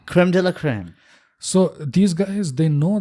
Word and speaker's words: crème de la crème: How do you pronounce it in French? Like crème crop or Creme de la creme. crème de la crème.